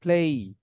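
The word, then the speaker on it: play: এর উচ্চারণ হবে ওকেই আমরা বলি প্লে এর উচ্চারণ হবে প্লেই আমরা বলি মিডডে এর উচ্চারণ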